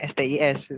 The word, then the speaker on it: STIS: Untuk Politeknik Statistika STIS, kalau anak STIS itu bacanya STIS, Oh, siap, bukan siap. STIS.